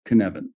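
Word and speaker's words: Cynefin: completely the knevan framework based on a Welsh word which is pronounced knevan that roughly translates as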